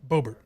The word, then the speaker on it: Boebert: Boebert.